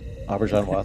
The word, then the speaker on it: Auberjonois: Renee, help me out with the pronunciation. Renee Auberjonois. Auberjonois, thank you.